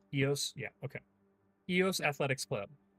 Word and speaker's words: EOS: I would pronounce that as EOS. EOS.